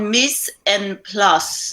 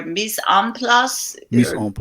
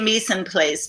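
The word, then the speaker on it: mise en place: out again please it's it's called miss and plus or miss amplus in place we we say meeson place but that's clearly not how you say it in french i'm sure the french people will cringe when they hear us say it like that it means everything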